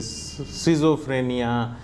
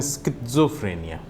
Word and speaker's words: schizophrenia: कई बार प्रोनाउंसिएशन थोड़ा मुश्किल होता है, हम इसे सिज़ोफ्रेनिया या स्काइज़ोफ्रेनिया इस तरह के टर्म्स भी सुनने को मिलते हैं, लेकिन इसका सही प्रोनाउंसिएशन है स्किज़ोफ्रेनिया।